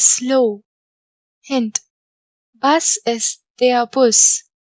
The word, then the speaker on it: Bus: Bus is der Bus. Here bus has the same spelling in German as in English, but it is pronounced as Bus. Der Bus.